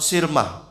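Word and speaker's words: صرمة: Ya sudah, kita tinggalkan saja perbedaan pendapat ini karena yang sering diucapkan oleh ulama tuh peristiwa Sirmah pakai sod.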